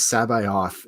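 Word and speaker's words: C'baoth: On the old one, where is Sabayoth? And that's how you pronounce it according to the audiobooks.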